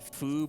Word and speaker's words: Fu: also i like how in the dialogue they pronounce it foo but the ali the weird bc alien guy's name is written as fu and capitals just